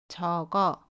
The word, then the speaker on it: 적어: The final consonant ‘ㄱ’ goes to the vowel position, you should pronounce it as . It is 연음 (=linking).